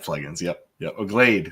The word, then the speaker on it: Glade: one of those commercials glad plugins yep yep Glade Glade not glad Glade yeah what glad get